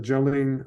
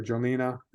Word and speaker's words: Jolene: The Jolene Library, or Jolena, they pronounce it either way, in Queanbeyan.